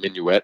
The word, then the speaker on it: Minuit: come over he was we Americans traditionally pronounce his name minuet as you did he was French background and would have probably pronounced it Minuit and he came over